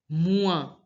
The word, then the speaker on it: mois: Mua. Here also the S is not pronounced and OI sound is pronounced as ua.